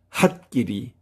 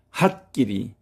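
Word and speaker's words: はっきり: 거기에 동화되어서 이때에 초음이 같이 크로 발음이 되는 경우입니다. 핫끼리. 핫끼리 K가 두 개 나란이 있죠.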